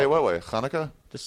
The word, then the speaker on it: Hanukkah: It's pronounced Hanukkah.